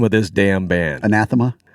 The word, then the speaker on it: Anathema: of this damn band anathema it was not anatha I can say it